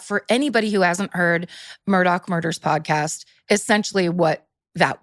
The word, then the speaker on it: Murdaugh: It's like, if you are actually in Hampton, you're saying Murdaugh. Like it's just, it like spits out of your mouth, like Murdaugh.